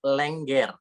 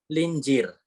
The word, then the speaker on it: Lengger: yeah for example like language so it's language not linger so it's just language GG foreign and then